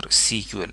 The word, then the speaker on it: SQL: English Query Language, or SQL, S-E-Q-U-E-L. It is still pronounced SQL, but nowadays the use of word SQL is controversial.